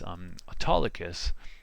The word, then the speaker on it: Autolycus: So anyways, Autolycus, spelled like auto, like an automobile, and then Lycus, or the wolf itself, was a thief who